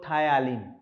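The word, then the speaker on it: ptyalin: salivary amylase or tyalin tyalin is a p-t-y-a-l-i-n so when you are pronouncing it you pronounce t y you use you pronounce p silently so it is a silent p then we have pancreatic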